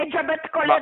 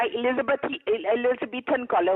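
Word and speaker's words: Elizabethan collar: एलिजाबेथ कॉलर नहीं होता, एलिजाबेथन कॉलर होता है। आपको तो प्रोनाउंस करना भी नहीं आता।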